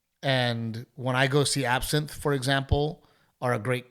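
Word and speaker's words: Absinthe: Absent is one of my favorite shows. Did I say it right? Absent. Absinth.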